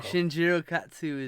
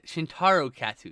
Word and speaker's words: Shintaro Katsu: of course the acting is also very oh shinjirokatsu is like i think i butchered his name one second oh my god i literally had a moment where i went uh-oh i know it's katsu shintaro katsu excuse me i'm by the way katsu is